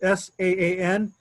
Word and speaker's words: saan: So what you got to do with the on the bottom, this S-A-A-N, you pronounce the A twice, and you pronounce it as ah.